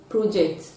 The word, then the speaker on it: project: Now the logic is, when a word is functioning as a noun and it is a disyllabic word, then you are going to stress the first syllable. But when it is functioning as a verb, it is going to have the stress on the second syllable.